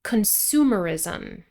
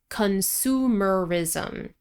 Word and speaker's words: consumerism: Consumerism. 5 syllables. Consumerism.